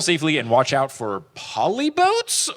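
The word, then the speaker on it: Polybotes: Just travel safely and watch out for polyboats or polybites? Polybites is how they say it later on.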